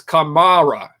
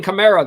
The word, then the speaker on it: Kamara: with the pronunciation here it's kamara kamara ghost i'll try to stop saying camaro then uh i do